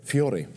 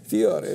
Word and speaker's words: Fiore: So now you operate a business called, do you say Fiore or Fiore? Fiore. Fiore, very good, the real Italian pronunciation.